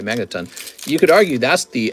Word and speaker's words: Magneton: argue magnaten's middle Evolution magnet magnet yeah I said it right Magneton You could argue that's